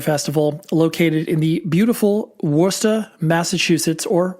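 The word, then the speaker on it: Worcester: metal and hardcore Festival located in the beautiful wora Massachusetts or Worster W wor I'm joking obviously I know how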